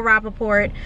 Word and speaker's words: Rappaport: You pronounced the motherfucking T. Dad said you didn't. What? You told me in the car, and it's in camera, in footage, you said, he doesn't pronounce the T.